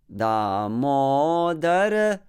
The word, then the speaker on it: Damodara: And again, Damodara. Remember about that mo. It is also a heavy and a long syllable, so stretch it.